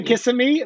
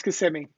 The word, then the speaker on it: Kissimmee: it is floridians but people say kissing me but it's kissimmee interesting oh yeah if